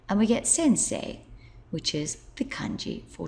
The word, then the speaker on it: 先生: to do is add this character which is pronounced say and we get Sensei which is the Kani for Teacher so let's